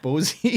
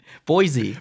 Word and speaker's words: Boise: states you live in helena bwazi blossie what's bosey how do you say it bosey idaho blazi